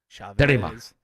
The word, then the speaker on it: Chavez: Although you mispronounced it. It's Chavez. Chavez.